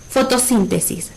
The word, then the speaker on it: fotosíntesis: Ahora, fotosíntesis, ¿será una palabra aguda, grave o esdrújula? Como está acentuada en la antepenúltima sílaba, ¿sí? Fotosíntesis es una palabra esdrújula.